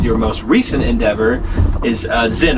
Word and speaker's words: Zynn: most recent endeavor is Zen. Am I saying that right? You're saying it right. Zen.